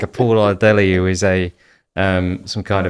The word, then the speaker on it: Oladele: Did I pronounce it correctly? Oladele. Oladele.